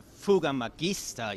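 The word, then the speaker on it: Fouga Magister: start with the weather we need to uh verify or actually correct it's actually called a fuga Magista you know it's a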